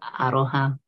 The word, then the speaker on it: aroha: Maori so yeah and we roll the R so for aroha yeah it's sort of maybe sounds like a bit of a d to some but rolling